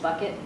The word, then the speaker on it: Bouquet: Like, really, that's her name, because in her hometown in the Midwest, it's pronounced Bucket.